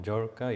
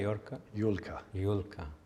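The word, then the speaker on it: Jurka: And mom, Yorka? Yulka.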